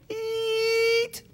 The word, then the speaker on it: Eet: She's here performing Eat. That's how you pronounce it.